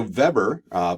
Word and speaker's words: Weber: by the name of Weber because he was German so we pronounced that as V not W so Weber put this idea for